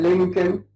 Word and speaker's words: Lincoln: We don't pronounce the L before the final M. This is a rule in English. We say Malcolm, Lincoln, and what have you.